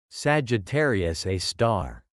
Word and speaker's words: Sagittarius A*: At the heart of our own Milky Way galaxy lies such an object, a supermassive black hole named Sagittarius A*, pronounced Sagittarius A star.